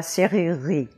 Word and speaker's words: serrurerie: The first syllable is easy, just se, as in set or bête. The second syllable is not that hard, rue, as in la rue, or tu, or futur, c'est rue.